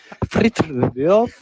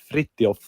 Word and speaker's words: Fritjof: He was like, Fritjof, like stuttering, trying to pronounce my name. But yeah, the correct way to say it is Fritjof.